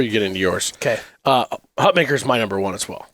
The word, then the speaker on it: Hutmacher: Yeah, Nash Hutmacher, we keep saying his name wrong. It's Hutmacher. I know. I'm sorry. Even though it's spelled and should be pronounced as Mocker correctly. I know. It's Maker. That's how he likes it pronounced.